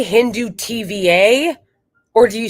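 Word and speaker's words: Hindutva: Okay, so it's Hindufa is like Zionism versus Hinduism, which is like Judaism.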